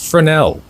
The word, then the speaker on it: Fresnel: I totally botched that pronunciation in the short I made about it, but it's pronounced Fresnel.